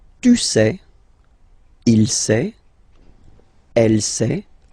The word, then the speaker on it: il sait: Il sait. Final T not pronounced.